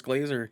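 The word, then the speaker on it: Grazer: how is that blazer do you know if that's how you pronounce that name i'm pretty sure it's glazer yeah that's my old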